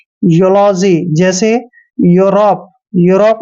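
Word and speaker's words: Europe: भी यू आता है तो ई यू का उच्चारण यू करना है यूलॉजी जैसे यूरोप यूरोप में भी क्या है ई के बाद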